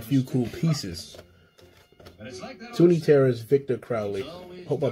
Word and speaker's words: Victor Crowley: picked up a few cool pieces tony terrace victor crowley i hope i pronounced that right yes i did i needed